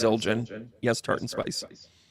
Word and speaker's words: Zildjian: Um, And it is pronounced Zildjian. Yes, tart and spice. Zildjian, yeah.